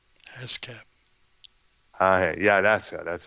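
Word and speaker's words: ASCAP: award from the a s c a p ash cap yeah that's that's how it's pronounced here all right okay jan and dean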